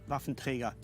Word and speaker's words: Waffenträger: I should say Waffenträger. That's the only way how to pronounce it.